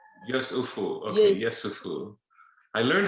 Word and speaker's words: Yesufu: And the last name, how is it pronounced? Yesufu. Yesufu.